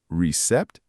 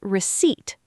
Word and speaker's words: receipt: Recept. Close. Remember the P is silent. It's receipt.